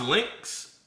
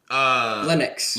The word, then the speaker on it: Linux: So is it pronounced Lynx? Linux. Linux. So Linux. Yeah.